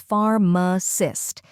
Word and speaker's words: pharmacist: The correct pronunciation is pharmacist. Let's break it down. First, we have F-A-R, which rhymes with car and bar. Then comes M, a quick, unstressed vowel sound like the A in sofa. Finally, cyst, which sounds like list, but with a soft S at the beginning.